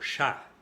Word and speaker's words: chat: Ejemplo, chat. Y en francés el sonido es cha, no como si tendríamos la T enfrente, cha, no, cha. Y aquí la T no se pronuncia, es un sonido A, la A y la T.